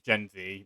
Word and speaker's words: Gen Z: it's probably just gen it's probably gen z even though we pronounce it zed so yeah like i